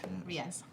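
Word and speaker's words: Riese: Riez. Oh, well, I took a different route to get to that pronunciation.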